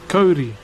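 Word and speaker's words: kauri: in particular is called cody so you spell it k-a-u-r-i but you can pronounce it like cody the name just uh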